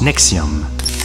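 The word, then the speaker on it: NXIVM: été souvent lent secte qu'elle s'écrit avec les chiffres amènent x 6 v/m et se prononce nexium c'est notre premier épisode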